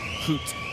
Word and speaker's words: Ruth: So number 13 is Jonathan Hoot. but it's spelled Ruth. Yep, So, Swedish boy.